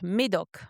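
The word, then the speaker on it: Médoc: Not Madok. Maidok. Maidok. Yeah, I said it wrong.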